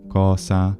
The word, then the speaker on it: cosa: Italians, and that's because the traditional pronunciation of the S intervocalically for the majority of words is voiced, but there are several words in traditional standard Italian pronunciation that are retained as voiceless, and those include così, caso, cosa, naso, mese, riso, sorriso, of course, as well, and peso.